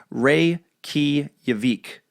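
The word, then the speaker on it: Reykjavík: But now it's a running theme, so I have to tell you the capital of Iceland is pronounced Reykjavik. So Reykjavik.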